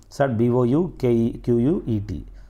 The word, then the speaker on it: bouquet: So bouquet. So there is a T is silent, bouquet.